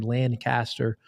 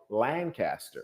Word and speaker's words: Lancaster: You didn't pronounce that wrong because there's another town with the same spelling in California, and they call it Lancaster.